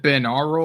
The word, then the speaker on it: binaural: Is it binaural or binaural? Binaural. Yeah, as in binary.